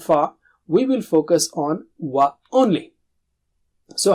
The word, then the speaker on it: وَ: Form a circle of the lips. That's very important. Wa, circle of the lips, and then separate them to produce a sound.